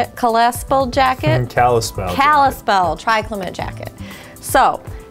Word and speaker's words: Kallispell: Kallispell Triclimate jacket.